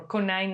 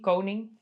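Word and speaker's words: koning: He called himself rabbit Napoleon or kine Napoleon because he couldn't pronounce the Dutch word king coning.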